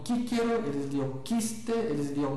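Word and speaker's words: Cicero: Ah, com um grau com uma aproximação muito grande de que o C na antiguidade era pronunciado como um K sempre. Então eles liam kíkero, eles liam quiste, eles liam mar, aliás, perdão, eles liam quista, eles liam marquelino, né?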